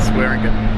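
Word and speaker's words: Swearingen: Swearing.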